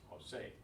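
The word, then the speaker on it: José: In Jose, it's on the last syllable. So it doesn't conform to that rule, so Jose is properly written with the accent where the stress is, Jose.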